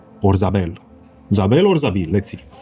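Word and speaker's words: Za'abeel: One and only one Zabil or Zabel. Zabel or Zabil. Let's see. Um, Zabil Zabil. So, in Arabic, it's pronounced Zabil.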